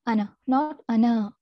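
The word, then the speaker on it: أنا: arabic without elongation so this has to be pronounced as ana okay so when reciting the holy quran as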